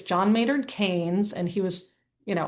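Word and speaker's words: Keynes: Um and I recently learned on a podcast that I had been pronouncing his name wrong. So when you think of John Maynard Kanes, think candy canes, right? So not it's not Kees. I always thought it was Kees.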